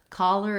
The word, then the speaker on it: collar: If you can do cholera, collar is actually easier. It's the same two first syllables, the call and the lur.